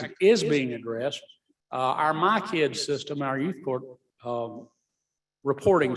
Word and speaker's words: MyCIDS: is in charge of My Kids. That's spelled MYCIDS, by the way. Don't ask me what the acronym stands for, but it's My Kids.